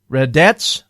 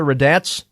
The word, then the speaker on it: Raddatz: Raddatz, I think is how you say it. Martha Raddatz, who was also in the room.